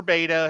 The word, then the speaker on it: betta: Is the betta fish. Or beta, however you want to say it. How do you guys pronounce it?